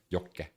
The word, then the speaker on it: Jokke: That's why I pronounced your name Jokke, because like that's the Finnish pronunciation of your name. I don't know if that's your name or username, but that's a lot how us Finns pronounce that double K in the middle of your name, which is like you have the pause Jokke.